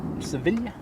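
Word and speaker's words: Sevilla: Ryan Air Max 8 next to land in from Seville Civilia if you were to say it correctly.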